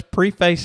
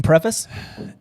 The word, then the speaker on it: preface: awesome yeah nyog so let's pre-face i think this episode by saying i mean preface yeah is that is that how you say it that's preface let's pre-face this episode